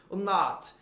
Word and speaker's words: not: É muito comum você ler esse ozinho do not com som de O. Não é O, gente, é um A. Not. Not. É um A em que você faz a abertura do A, mas você pronuncia O.